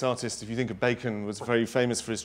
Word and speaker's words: Bacon: Bacon. Bacon. Bacon. Sorry, I said Barkin. Sorry. You see, sometimes it's pronounced Barkin. Yeah, sorry.